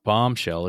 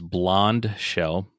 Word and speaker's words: Blondshell: That's not bombshell, it's Blondshell. B L O N D E S H E L L.